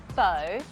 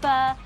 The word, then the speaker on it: pho: fur classic Vietnamese dish Super Famous it's not pronounced bow as it's spelled p-h-o but fur named after the French hot alpha so first